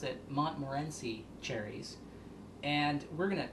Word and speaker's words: Montmorency: I have half a cup of pitted, dried, tart, someone told me to pronounce it Montmorency cherries.